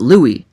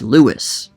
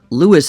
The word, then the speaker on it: Louis: dali armstrong responded with it's not louis it's lewis so then is the louis pronunciation wrong no at least i wouldn't say so language is about accepted use if so many people say it one way it just becomes acceptable regardless of the original intent or pronunciation but at the same time lewis is also not wrong because that's what the man himself said which does carry quite